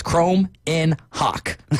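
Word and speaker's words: Kromenhoek: and then to go look up the uh pronunciation on Mississippi State and they've got a perfect I love it says Chrome in Hawk.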